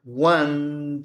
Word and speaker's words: won: If he had trained, he could have won the competition. ¿Ok? Esto es pronunciado como el número uno. One, number one.